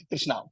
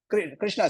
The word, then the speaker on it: Krishna: letters I am a so don't eat up Krishna so Krishna should not be eaten up he you have to pronounce all the USS wherever they come right people with North